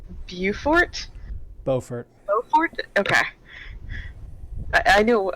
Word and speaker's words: Beaufort: I'm gonna mispronounce this horribly I believe it's Beaufort Beaufort oh okay I knew I had a 50-50 shot it's a few shorter Beaufort its Beaufort okay I would like to get one more